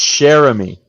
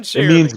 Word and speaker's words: Cheramie: It's Cheramie. It's Cheramie. Okay. Yeah, Cheramie. it means beautiful friend in French.